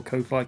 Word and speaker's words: Ko-fi: all of those to Kofi so far you know or Kofi Kofi I like to say it's coffee right anyway um at